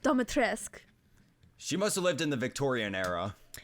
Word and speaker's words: Dimitrescu: Yeah, she literally in her line, she goes something. She says like I don't know, but she says the House of Dimitrescu.